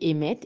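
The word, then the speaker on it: אמת: nous parle de vérité la vérité ça se dit émette et ça s'écrit Alf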